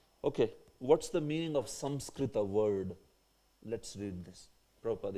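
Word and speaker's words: संस्कृत: If you wish to pronounce Samskrita, then this is the pronunciation. Samskrita. Samskrita, that's the pronunciation actually.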